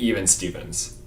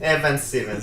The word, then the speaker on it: Evan Stevens: Are you sure you're not mispronouncing it even Stevens? No. Even Stevens. No, it's Evan. Evan Stevens.